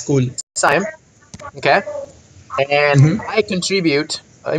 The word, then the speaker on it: Saiyam: my name is," let me see if I'm pronouncing your name correctly. Saiyam? Yeah, it's cool. Saiyam.